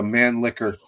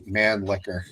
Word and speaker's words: Mannlicher: That was a Mannlicher Carcano or something, I think. Yep. I was always uncomfortable saying that Mannlicher.